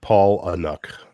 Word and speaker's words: Palahniuk: Huey says it's pronounced Paul Anuk. Palahniuk.